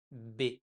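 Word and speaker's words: ب: If there is only one dot, it's Be, like the letter b in French.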